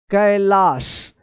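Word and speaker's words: Kailash: जैसे यहां पे देखिए कैलाश तो कैलाश है यहां पे तो के ए आई से कै ए एल ए एस एच कैलाश तो यहां पर आप ए आई का ए उच्चारण मत कीजिएगा कैलाश पढ़ेंगे गलत हो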